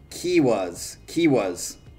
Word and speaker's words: Kiuas: He said it's pronounced Kiwas. And he said it's a Finnish metal band that's hard to describe.